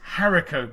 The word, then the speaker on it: haricot: It's haricot beans. Haricot beans are the beans used to make baked beans, spelt haricot, if you're confused by my pronunciation.